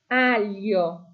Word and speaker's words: aglio: So, the next one is got that gl i sound. So, don't don't forget no g, no gl sound. Okay, we want alo. Alio. I don't know if you can remember it was that gl is like the double l sound in the word million or william.